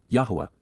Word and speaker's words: Yahowah: Yahowah, Yahowah, the proper pronunciation of Yahowah, God's personal and proper name